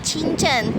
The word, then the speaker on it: 清真: Ini bacanya chinchen.